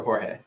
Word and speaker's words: Jorge: Christopher asks, is George supposed to be pronounced like George or in the traditional way like Jorge? George or Jorge? It's both. So my given name by my mommy is Jorge. And that's what she calls me, and that's what all of my family called me. But when I first moved here, let's put it nicely and say that a lot of people